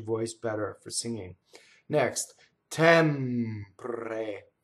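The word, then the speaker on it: tempre: Notice the M doubles the same way that L and N doubles. Tɛmpre. So the M's are made with your lips coming together. While your lips are together, you hold that while you phonate.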